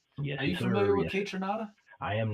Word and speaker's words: Kaytranada: Yes, are you familiar with Kaytranada? I am not, but you said that great, and that's how you say it.